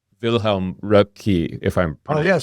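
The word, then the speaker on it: Röpke: German economist called Vilhelm Rupki if I'm called Rupka if I'm pronouncing it right. Yeah, it's exactly right.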